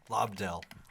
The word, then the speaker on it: Lobdell: Lobdell. Lobdell. Yeah, try spelling that. Yeah. It's spelled like it sounds.